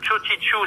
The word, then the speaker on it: Txogitxu: Chodichu, ça s'écrit TXOGI. C'est bien ça, Imanol? Je ne vais pas dire pour l'instant. Oui. Et après, TXU. TX. C'était XOGITXU. Absolument. Chodichu, vous tapez Imanol Jacka, vous trouverez tout, vous